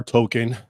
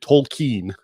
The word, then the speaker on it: Tolkien: So if you're if you're familiar JR R token or is it Tolken? I don't know. When I was young, it used to be Token and the L wasn't pronounced.